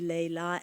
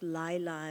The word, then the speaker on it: Leyla: So, and I pronounce it a little differently, Leyla and Majnun, and not Layla and Majnun. Or Leyli and Majnun, as we heard earlier today.